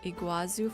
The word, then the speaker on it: Iguazu: So you wouldn't get like Igazu Falls for in a lot of games. Is that how you say it? Igazu uh Iguazu Falls.